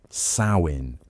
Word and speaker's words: Samhain: Samhain, pronounced "Sow-in", marked the transition from the light half of the year to the dark half.